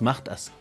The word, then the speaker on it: mahta: Ahí vienen lo que son los mahtas. En castellano, por cuestión de que nos gusta pronunciar lo sexy, decimos malas, maltas. Castellanizado totalmente. Pero debemos entender que es mahta.